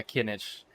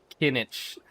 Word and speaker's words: Kinich: time we met yeah kinach kinich okay I got to remind him kinich kinich like green heat it rhymes with spinach his name is kinach